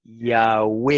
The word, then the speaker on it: Yahweh: Los escritores griegos antiguos testifican de que se pronunciaba antiguamente Yahweh, y lo escribe así en inglés, como se escribe en inglés, Yahweh, Yahweh.